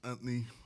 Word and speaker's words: Anthony: It's Anthony. 2 syllables, not 3.